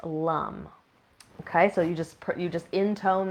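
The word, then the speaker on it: lam: So it's spelled L-A-M, but it's pronounced lum. Okay, so you just intone that, usually kind of low in the body, like lum.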